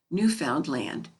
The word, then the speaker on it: Newfoundland: of their country is pronounced with the accent on the last syllable newfound land the main street of